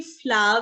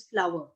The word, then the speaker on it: flour: FL हाँ जी ਬੱਚੇ ਇਹਨੂੰ ਅਸੀਂ ਫਲਾ ਵੀ ਬੋਲ ਦਿੰਦੇ ਆ but correct pronunciation is ਫਲਾਵਰ ਇਹਨੂੰ ਤੁਸੀਂ ਫਲਾ ਕਹਿ ਸਕਦੇ ਹੋ ਠੀਕ ਹੈ ਆਟਾ getting